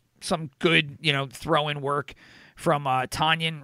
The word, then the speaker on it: Tonyan: And they've got some good, throw-in work from Tonyan, right? That's how you pronounce his last name, the tight end. Tonyan.